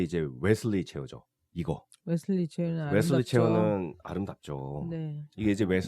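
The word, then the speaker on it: Wassily: 근데 이거보다 더 유명한 게 이제 웨슬리 체어죠. 이거. 웨슬리 체어는 아름답죠. 웨슬리 체어는 아름답죠. 네. 이게 이제 웨슬리 체어인데 바슬리 체어? 네. 바슬리라고 부르기도 하고. 근데 이게 독일어로 해서 W가 B 네. 발음 났구나.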